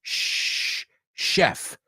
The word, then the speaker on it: chef: word chef se pronuncia chef. Say this sentence. There's a chef I know on Lake Michigan in Chicago, and he's a machine. O sea, esas cuatro CHs son SH.